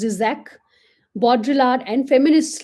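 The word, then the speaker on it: Žižek: Spivak's own work, that of postmodernists Slavoj However, it is pronounced Zizek, Baudrillard, and feminists like Butler created a movement in literary criticism, media studies, and philosophy.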